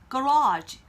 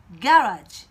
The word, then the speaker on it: garage: 미국 발음으로는요. garage 이렇게 발음합니다. 그런데 이 단어가요. 영국 발음이 되면은 또 조금 달라집니다. garage Garage. 이렇게 발음이 돼요. 같은 단어지만 발음이 사뭇 좀 다르죠? 강세의 위치도 다릅니다.